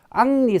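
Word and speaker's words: Henri: 그래서 이제 카페 왕조에 반계 있는 부르봉 왕조의 앙리 사세라 그럽니다. 여러분 많이 들어보실 건데. 앙니 앙리니 뭐 앙리여 프랑스 발음으로 앙리가 되고 어 영어로 발음이 여러분 헨니 예 독일어는 하인니 동일한 이름입니다.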